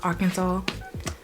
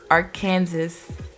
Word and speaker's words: Arkansas: state okay so you know how arkansas is pronounced arkansas my brain always reads it as our kansas and that's what's come on my mouth sometimes